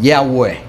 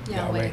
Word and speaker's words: Yahweh: If you pronounce in Hebrew, it's called Yahweh. Yahweh.